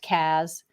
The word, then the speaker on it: CAS: decade Cas or caas both of them are pronounced Caz uh Cass services are